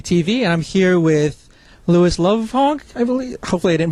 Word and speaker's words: Lovhaug: Okay, this is Ian again from 2 City TV, and I'm here with Lovhaug, I believe. Hopefully I didn't butcher the name, and otherwise...